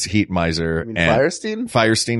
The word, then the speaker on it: Fierstein: Firestein, is that how you say it? Fierstein? It's F-I-E-R. Not F-I-R-E. It's Firestein.